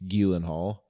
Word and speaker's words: Gyllenhaal: And then I watched the Presumed Innocent Apple show with Jake Gyllenhaal. Yeah, That's actually how you're supposed to pronounce it, according to him on an episode of Conan from 20 years ago.